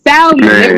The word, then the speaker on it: salmon: It's Me salmon. neither. It's salmon. Why Man, is the L there? Let me tell Solomon. you something. exactly. Why I got a silent L?